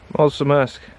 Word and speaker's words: Mulțumesc: Mulțumesc.